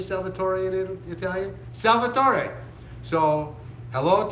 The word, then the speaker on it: Salvatore: this, his name is Salvatore. That's my Spanish version. Not Salvatore, Salvatore, because I'm sure he's watching from Italy, and that's how you say it in Italian. How do you say Salvatore in Italian?